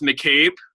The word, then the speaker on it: McCabe: get that fixed but my name is pronounced McCabe my last name M C capital C a B E and my first names